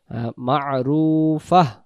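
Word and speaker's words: مَعْرُوفَةٌ: দমটা ছেড়ে দেব আমরা, তখন ফা উচ্চারণটা এমন হবে, বাংলাতে ফয় আকার ফা, আর শেষে যখন হা থাকে, হ থাকে, ফাহ, ফাহ এমন হবে, মা'রুফাহ এমন হবে।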